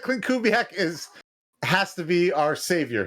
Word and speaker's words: Kubiak: It rhymes with black. Kubiak black.